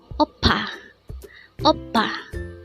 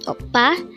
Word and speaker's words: 오빠: Word number 72 oppa this word is composed of two syllables the first syllable is O and the second syllable is PA pronounce it with me